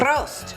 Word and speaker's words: Prost: Prost.